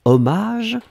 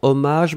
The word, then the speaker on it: hommage: chance et hommage alors hommage bharti fait attention c'est avec un h alors on le prononce pas mais est il doit